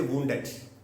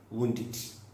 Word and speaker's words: wounded: When you see a word ending in T or D, and if it is added with ED, then you have to pronounce arrested. Wounded. Don't say wounded. Don't say arrested. It's arrested, wounded.